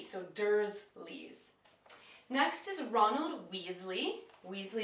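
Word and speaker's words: Dursley: with an S like dle but it's actually with a z so durle next is Ronald Weasley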